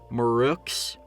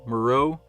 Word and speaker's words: Mareux: what's his name okay i'm not sure if it's marook's or moreau i'm just gonna say mero i think the x is silent but i have no